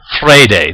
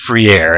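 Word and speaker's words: Freire: name you'll notice that i pronounce it fray day that is the portuguese pronunciation of the name you'll notice in the powerpoint presentation that i refer to him as free air and that was up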